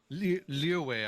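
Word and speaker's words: Liyue: it's funny because like some of the english voice actors pronounce leeway like leeway like they really try to go for like the chinese like pronunciation and then others would just go like welcome to lee away she hitting a send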